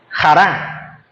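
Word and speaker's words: χαρά: La palabra alegría En este caso es usada allí, viene del Griego y se su pronunciación es Jara Que significa gozo.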